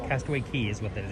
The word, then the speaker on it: Castaway Cay: Castaway Key is what that is. It looks like it says K, but the correct pronunciation is Key.